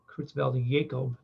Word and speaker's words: Creutzfeldt-Jakob: Another type of prion disease is listed here that affects humans, the CJD, Creutzfeldt-Jakob disease, it's called. This J is pronounced with a Y, Creutzfeldt-Jakob disease.